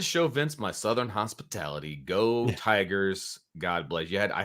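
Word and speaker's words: geaux: guy that writes it g-e-a-u-x you gotta say it like like coach oh go Tigers there you go there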